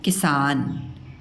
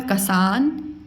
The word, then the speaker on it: किसान: यह है किसान। ये लिखा हुआ है कसान किसान कसानी।